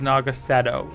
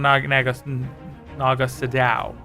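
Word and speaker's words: Naga Sadow: chord it's July chord Naga Shadow is nagasetto it's not Naga sadao I don't know who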